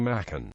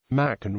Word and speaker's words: Machen: told the Literary Digest the first syllable is pronounced like May the name of the month in the second syllable